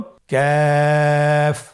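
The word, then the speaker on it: ك: আবার বলুন কাফ। কাফের মাখরাজ আমরা স্ক্রিনে দেখতে পাচ্ছি। কাফের মাখরাজ হলো জিহ্বার গোড়া থেকে একটু আগে বাড়িয়ে তার বরাবর উপরে তালির সঙ্গে লাগিয়ে উচ্চারিত হয়।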